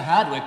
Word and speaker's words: Hardwick: two syllables and that heading up to hadwick way just meant that you were going to Hardwick and at the phrase